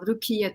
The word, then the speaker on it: Rukiye: it correctly is my name is a you pronounced very well rukia and by the way I operated to